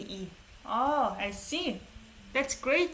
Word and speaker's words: 의: 의 is pronounced 의 when it's in the beginning of the word. When it's after, it's usually E.